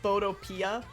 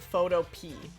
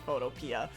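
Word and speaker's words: Photopea: browser Photoshop called um I think it's pronounced photoia, but I called it photo pe like as in like pee the vegetable cuz that's how it's spelled.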